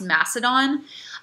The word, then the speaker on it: Macedon: He comes from a region called Macedon, sometimes pronounced Macedon, and he conquers a vast amount of territory in his 32 years of life.